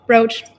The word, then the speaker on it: brooch: in the united states how do you pronounce that brooch broach england agrees for once